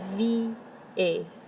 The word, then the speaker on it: vieille: The pronunciation can be difficult. Vieille, vieille.